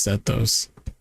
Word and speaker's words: Sxthos: It's pronounced stoos. The X is an E.